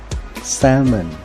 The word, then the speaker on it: salmon: เนาะ ปลา แซลมอน ครับ ภาษา อังกฤษ ถ้า จะ ออก เสียง ให้ ถูก ต้อง พูด ว่า ซัมเมอร์ salmon ให้ เรา My name